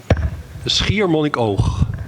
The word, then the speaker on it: Schiermonnikoog: I'd Google it to kind of remember the pronunciation, but of course, I forgot. It's very difficult. Can you repeat again? Schiermonnikoog.